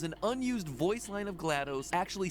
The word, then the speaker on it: GLaDOS: There's an unused voice line of GLaDOS actually saying her name, and that's the way she pronounces it. As far as how you pronounce GLaDOS, Gladys, apparently is a viable option. No, GLaDOS.